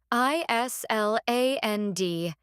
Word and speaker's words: island: I S L A N D. The S is silent.